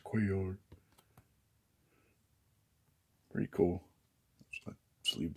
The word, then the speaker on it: Cuellar: This doesn't need, well, I guess so, because this is a actual 1977 card of Mike Cuellar, or Cuellar. That's the way they pronounce it on TV anyways, Cuellar.